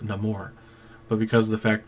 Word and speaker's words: Namor: in his personality too Namor could have just been Namor Namor however you want to pronounce it I always pronounce it no more but because of the